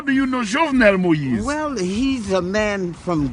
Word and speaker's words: Jovenel Moïse: And his name is Jovenel Moïse. Jovenel Moïse.